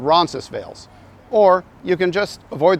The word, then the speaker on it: Roncesvalles: doesn't really matter because even though this street is named after a place in Spain we don't pronounce it that way in Toronto it's called Ronis veils or you can just